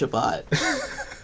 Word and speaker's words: Shabbat: Is it spelled C-H? No, but it's pronounced Shabbat.